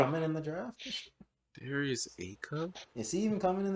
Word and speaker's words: Acuff: Darius Say Acuff. is Darius. a cuff. I think he. It's literally Acuff.